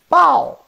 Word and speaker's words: 包: This is a pow, this is a pow, and this is bow. You always have the same vowel part, A-O.